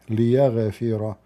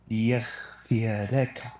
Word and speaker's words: ليغفر: I just say to you correctly how to say it. ليغفر. No. What ليغفر mean? ليغفر لك. There's no خ. There's no خ. There's no خ. ليغفر. Learn, not أخ.